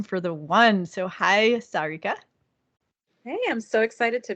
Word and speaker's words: Sarika: excited to bring you Sarika uh well it's pronounced Sarika and she is a love and dating